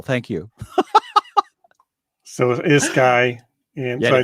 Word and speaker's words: Schy: So as you introduced me as Schy has been so appropriate because my entire life, since third grade, the teacher and Shyler, it's actually pronounced Sky. Just so you know, you said I said Schy.